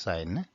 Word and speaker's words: sin: So although there it's written sin, it's actually pronounced sine.